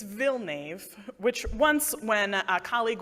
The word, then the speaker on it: Villnave: And once I said, yeah, it rhymes with Bill Cave. And I was like, and then I followed it up with, imagine, if you will, the most boring, most anglicized pronunciation of these letters that you can. That's the one. It's Villnave.